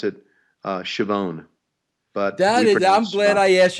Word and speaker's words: Schiavone: Yeah, it's actually pronounced, well, I guess from Italy, it was pronounced Scavone. And then when my grandparents are from Italy, they came over, they settled in Rosetta, Pennsylvania, and the pronunciation was Schiavone.